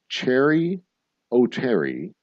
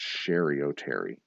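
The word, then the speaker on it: Cheri Oteri: Cherry O'Terry and Will Ferrell played cheerleaders at a high school in a popular SNL skit. What was their mascot? And I think it's pronounced Sherry O'Terry.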